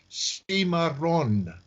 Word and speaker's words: Cimarron: pronunciation of it is Seema Rhonda Seema Rhonda you have to roll the R's in Spanish okay and Seema drawn